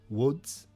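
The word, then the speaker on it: Łódź: when i tell it's fairly commonly mispronounced so don't feel as bad about that one but uh woods i think is how you're supposed to pronounce it but i'm just calling it luds l-o-d-z and uh apologize for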